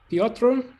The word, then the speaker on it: Piotr: Next would be Piotr. How do I pronounce that correctly? Yeah, you pronounce that correctly. It's my name is Piotr.